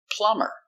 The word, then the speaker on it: plumber: Example, plumber. We put ER, but the B is silent.